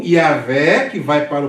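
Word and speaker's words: Yahweh: o judeus bom então a pronúncia original mais provável é Javé ou é o yaveh que vai para o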